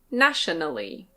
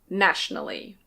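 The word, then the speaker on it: nationally: This one can be pronounced "na-tio-na-lly". Na-tio-na-lly. But it's more common to say "nash-na-lly". Nash-na-lly.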